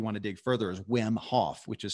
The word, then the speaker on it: Wim Hof: That's another person people can check out of interest if you want to dig further, is Wim Hof, which is spelled W-I-M.